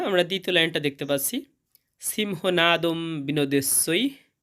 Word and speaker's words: সিংহনাদং: এবং শব্দের শেষে অনুস্বর থাকলে তার উচ্চারণটা অর্ধেক ম এর মত হয়। তাই এর শুদ্ধ উচ্চারণ হবে সিংহ নাদম।